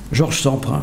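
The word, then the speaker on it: Jorge Semprún: et puis c'est bon jorge semprun je le prononce à la française la scène cette fois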